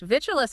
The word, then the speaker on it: vitulus: Vitulus has 3 syllables. It's a bit clunky to say rapidly. The stress is on the first syllable, vitulus.